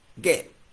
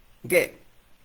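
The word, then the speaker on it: γῆ: Esa palabra en el texto original griego es ge, así, ge.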